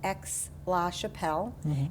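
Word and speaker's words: Aix-la-Chapelle: Uh, it's pronounced X Lash Chappelle and Ex Chappelle um in the 17 and 1800s was an important uh diplomatic city.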